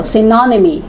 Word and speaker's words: synonymy: So the stress in second syllable, synonymy, antonymy, and hyponymy.